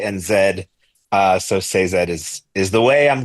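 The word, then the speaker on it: Sazed: it up and apparently Sanderson himself has come out and said it's supposed to be a two syllable word say and Zed uh so say Zed is is the way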